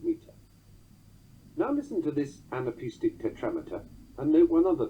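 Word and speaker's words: anapaest: Such a titty-tum foot is called an anapest, as if the foot is a skiing champion, anapest, although it's spelt A-N-A-P-A-E-S-T.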